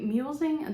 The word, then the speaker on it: mulesing: Mulesing, that's a hard word to pronounce sometimes. I always have to be like, okay, it's mulesing.